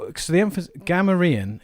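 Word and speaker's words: Gamorrean: not so the emphas gamaran is like the emphasis is on the gam then you've got gam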